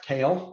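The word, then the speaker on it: Kehl: my name is kale i like to say it's uh pronounced like the vegetable but spelled differently so i'm the vp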